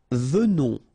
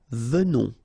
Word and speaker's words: venons: Nous venons, okay? So final S not pronounced, and then remember that you pronounce this like a the, venons, okay? O-N in your nose, on, venons, nous venons, all right?